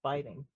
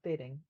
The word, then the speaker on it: biting: That's biting. Biting. It's not bidding, it's biting.